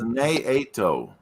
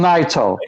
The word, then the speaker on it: Naito: Because she's like, She says it's Naito. Naito. I call him Naito. Okay, Naito. That's it. Yes, I Americanized it. That's how I hear most of the announcers saying it. Naito.